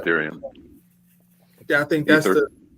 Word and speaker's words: Ethereum: It's Ethereum.